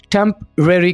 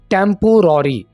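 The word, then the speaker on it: temporary: आरजी को English में टेम्परेरी कहा जाता है। अगर आप इस वर्ड को ऐसे बोल रहे हैं टेम्पोररी, ये प्रोनाउंसिएशन गलत है। सही प्रोनाउंसिएशन यानी इसको अदा करने का तरीका सुन लीजिए, टेम्परेरी, टेम्परेरी।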